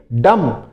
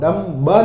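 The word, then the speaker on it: dumb: इसको डेफ बोलोगे फिर डम डम यानी गूंगा जो मुंह से बोल नहीं सकता उसको गूंगा कहते हैं और ध्यान रखना यहां पर बी है ना बी साइलेंट रहता है आप डम ब नहीं बोलोगे क्या बोलोगे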